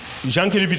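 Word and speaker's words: Jankélévitch: Jean Kevit ça s'écrit donc le prénom c'est Vladimir comme Vladimir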